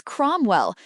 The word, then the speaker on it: Cromwell: Question 2 answer is Cromwell. Note ow sounds O.